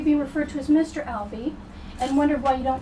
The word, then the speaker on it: Albee: referred to as Mr Alby and wondered why you don't choose Dr Alby is it a conscious choice and if so why well let's let's say the proper pronunciation is Ali not Al anything I don't care what